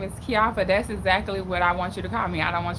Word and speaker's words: Keioffa: you guys right now so my name is kiafa right and it's spelled k-e-i-o-f-f-a and and oh why would happen